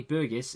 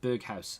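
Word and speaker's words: Berghuis: uh comment section uh apparently burgess is pronounced berghaus so we'll call him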